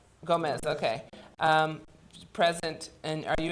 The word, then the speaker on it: Gomez: Is it Gomez? Okay. Gomez, okay.